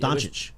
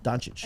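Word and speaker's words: Dončić: Doncic. Doncic, is it? Yeah, Doncic.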